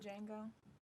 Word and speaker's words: Django: No, in Django, the D is silent. Django.